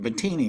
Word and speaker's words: Battini: And I do pronounce that right, Battini, right? Yes, you do actually.